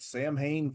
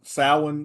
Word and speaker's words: Samhain: I'm sorry, Samhain. I guess it's Samhain. I was pronouncing it in the manner of the late great Donald Pleasance. I mean, yeah, that's how I read it, is Samhain. Well, it's Irish. Nothing in Irish is said like it's spelled to English speakers.